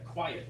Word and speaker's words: quiet: No, you just said quiet, 2 syllables. Quiet means, quite. Quite. Oh, I'm not quite sure. Yeah, make sure, 1 syllable, yeah.